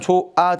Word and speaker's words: 좋아: 좋아 발음하면 조아 되잖아.